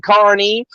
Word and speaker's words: Kearney: this dude from the mayor of kearny saying carney and i dropped a web the the actual